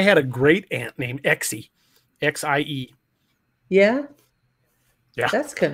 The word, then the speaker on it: Exie: I had a great aunt named Exie, X-I-E.